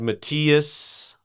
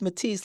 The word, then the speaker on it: Mathis: Or I've had Matthias or Matthias. I see. But it's pronounced Matisse like the artist.